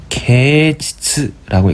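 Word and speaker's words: 啓蟄: 그래서 일본어는 개칩이라고 하고 개치츠라고 읽습니다.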